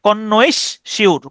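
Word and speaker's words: connoisseur: আপনি এভাবে উচ্চারণ করতে পারেন। কন কনশর কনশর। ঠিক আছে?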